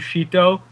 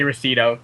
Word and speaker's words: Ruscito: In Italian, which is how it's supposed to be pronounced, it's technically like Ruscito. But in like Ruscito. English, in English, I just say Ruscito because it makes sense.